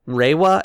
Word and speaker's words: Reiwa: era, the Heisei era, and I believe it's pronounced Reiwa era.